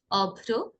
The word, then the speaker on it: অভ্র: এই ক্ষেত্রে কি, রফলা শব্দের মাঝে বা শেষে যুক্ত হলে যে ধ্বনির সঙ্গে রফলা যুক্ত হয়েছে সেই ধ্বনির দ্বিত্ব হবে। ওকে, আবার বলছি, হ্যাঁ। তাহলে এগুলো উচ্চারণ করি। অভ্র, বিভ্রান্ত, দীপ্র, পবিত্র, সাগ্রহ, পথশ্রম, রুদ্র, বিদ্রোহ।